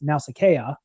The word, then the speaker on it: Nausicaa: to this the name the name Nausicaa which you notice has of the irises over the second day which means that the name should be pronounced now Sakaya but is not of course honored that is what that the iris this means that is a diacritical mark that means that the bow sounds are separate and so the listeners